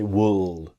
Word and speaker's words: would: Again, repeating myself, the L is silent. It's easy to make the mistake to say would, because maybe you see the L and you want to pronounce the L.